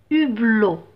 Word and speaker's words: hublot: lettre achetez aspirer à un hublot un hublot donc pas de liaison je vais pas dire